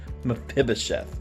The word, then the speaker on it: Mephibosheth: Now look, I've heard several pronunciations for this word, but since we're kids, we're going to keep it safe, and we're going to call it Mephibosheth.